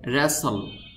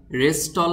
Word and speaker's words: wrestle: যেমন এই শব্দটি দেখুন, এটার সঠিক উচ্চারণ হবে রেসল। রেসল, এই শব্দটিকে রেস্টল বললে হবে না বা ওরেস্টল বললেও হবে না, শব্দটির সঠিক উচ্চারণ হবে রেসল।